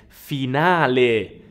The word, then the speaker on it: finale: also have the word finale finale now be very careful with the pronunciation it is not finale no you wanna pronounce that e at the end finale finale this word in english is